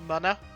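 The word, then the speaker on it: Munna: I was telling you about think it's technically pronounced Mana but I call it MOA and I'm not changing protect you from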